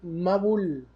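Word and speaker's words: מבול: Diluvio en hebreo se dice y se escribe Mabul. ¿Ok? Una mem, una bet y una lamet.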